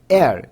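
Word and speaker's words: heir: হচ্ছে না আবার একইভাবে এয়ার এখানে এইচ এর উচ্চারণ হচ্ছে না এই আই আই আর এয়ার মানে হচ্ছে উত্তরাধিকার।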